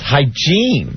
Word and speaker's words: hygiene: And not hygiene, it's hygiene. Hygiene. That's the accent on the wrong syllable.